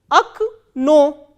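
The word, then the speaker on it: окно: The word that we are doing now is o, ka, na, o and stress is on second o. So, how will we pronounce this word? Akno, akno.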